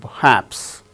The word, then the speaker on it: perhaps: R is not uttered because it is followed by h in the word perhaps.